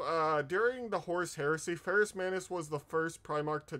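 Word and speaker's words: Ferrus Manus: it fable I can't I'm pretty sure I'm going to mispronounce his name is it Ferris Manis yes it's the ghost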